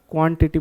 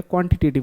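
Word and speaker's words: quantitative: जल्दी से मुझे बताओ, अगर ये नाउन से जुड़ा है, क्वांटिटिव, क्वांटिटेटिव, अच्छा क्वांटिटेटिव, थोड़ा सा स्पेलिंग करेक्ट करेंगे भैया, क्वांटिटिव बोल दिया, क्वांटिटेटिव होता है, ठीक है।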